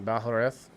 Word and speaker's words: Balhareth: I don't want to butcher your last name, Balhareth.